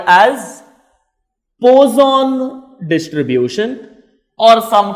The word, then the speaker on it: Poisson distribution: The third concept is called as Poisson distribution, or some call it as Poisson distribution. That is left to you the way you pronounce it. I will tell it as Poisson distribution.